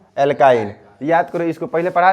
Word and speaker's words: एल्काइन: रहे हैं एल्कीन और एल्काइन इसका प्रोनाउंस सही से करना पड़ेगा नहीं तो गड़बड़ हो जाएगा एल्कीन और एल्काइन तो सबसे